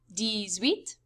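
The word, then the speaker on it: dix-huit: they kind of do it in reverse in french they say 10 7 10 eight ten nine pronounced like this d set d sweet dis nuff and the number for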